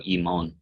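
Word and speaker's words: ἡμῶν: Remember, there's not the rough breathing, so imon. Even though you have that mark there, the sia prosodia, it's still not pronounced.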